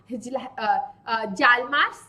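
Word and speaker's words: Hjalmar: किया जिसका नाम था जालमा एच जो है वो साइलेंट है सो जालमा कच्ड ठीक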